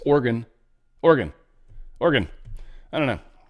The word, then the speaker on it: Oregon: Republican lawmakers tee up a battle over transgender sports in Orgon as some people say. It's Oregon.